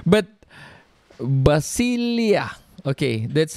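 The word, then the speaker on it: βασιλεία: kingdom kingdom in greek is basil hard to pronounce but basilia okay that's how it's pronounced they said basilia which means kingdoms or sovereignty or political entities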